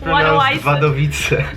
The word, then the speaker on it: Wadowice: You pronounce it Wadowice. It's pronounced Wadowice. Wadowice, Poland.